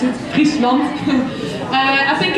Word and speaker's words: Friesland: That's how you pronounce it, Friesland.